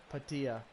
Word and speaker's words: Padilla: we go bug gia Padilla that's how it's pronounced know how to retired